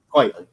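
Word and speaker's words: Quitely: I have, because you mentioned Frank Quietly, right? That's how you would pronounce it? Quietly. Yeah. Because it's not his real name. It's a play on the term quite frankly.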